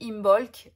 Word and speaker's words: Imbolc: qui sont prononcés puisque on dit Imbolc et paraît que normalement on ne doit même pas prononcer le B, apparemment on doit dire Imbolc.